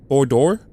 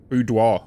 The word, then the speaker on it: boudoir: How do I pronounce this? Bordor? It's French. Right? Boudoir. Boudoir. Of course.